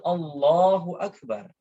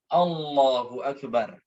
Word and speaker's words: Allahu akbar: boleh seperti itu jadi tatkala takbir mengucapkannya yaitu allahuakbar bukan dengan bahasa-bahasa lain disini kemudian selanjutnya cara pengucapan takdir antara lafadz Allah dan Akbar Heroes